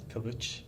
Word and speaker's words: Kilic: to oron kich you told me that it's pronounced as Kish kich kich and he has some exciting news about